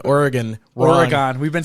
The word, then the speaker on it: Oregon: we've been saying oregon oregon we've been saying oregon and it's more like oregon like organs yeah like i'm an organ donor organ not organ or